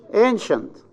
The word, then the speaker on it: ancient: Ancient. Ancient. Where is the stress? The first syllable.